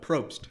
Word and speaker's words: Probst: Probst.